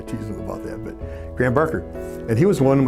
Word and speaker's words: Graham Barker: Graham Barker if you're from Australia you pronounce it you know I teach them about that but Graham Barker and he was one